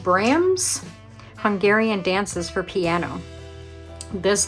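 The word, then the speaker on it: Brahms: And then we have uh I think it's pronounced Bram Hungarian dances for piano.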